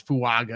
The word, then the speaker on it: Fuaga: keep things going um fua or fuaga everybody I've been arguing with people exactly how it's pronounced that Jame Brugler came out and said it is fuaga and his Beast guide so I'm gonna stick with fuaga I've got him at